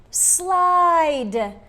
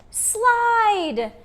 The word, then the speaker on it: slide: and finally e again the e is silent and the i is the i we're talking about today like in ilex ibex and now add the d of the letter d slide slide very good boys and